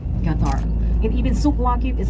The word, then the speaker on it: Qatar: And ladies and gentlemen, the right pronunciation of Qatar is Qatar, because Q in Arabic is pronounced as letter G, Qatar.